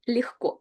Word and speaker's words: легко: Then the next one is легко. And please pay attention to pronunciation where G is pronounced as H.